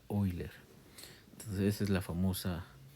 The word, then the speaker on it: Euler: Se escribe euler y se pronuncia Oiler.